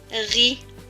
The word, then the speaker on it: Paris: R et I, ri, suivi du S mais qui ne se prononce pas puisqu'il est en bleu. Donc, ce mot va se lire pas, Paris.